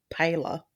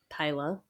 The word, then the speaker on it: Pahler: So, I just Googled how to pronounce it, and it says to say it like Pala. Pala.